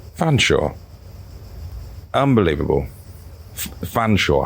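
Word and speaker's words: Featherstonhaugh: and I mean everyone who's pointed out the featherston Howe is pronounced fan Shore when it's a surname yeah featherston Howe which is like feather Stone and then h-a-u-g-h that's pronounced fan sure unbelievable the fan sure how anyway if you're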